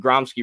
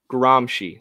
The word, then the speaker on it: Gramsci: neo-marxists were cia or or cia adjacent and gromski wrote his stuff from prison not from the wealthy academies so the incorporation gramsci sorry thank you for the pronunciation help of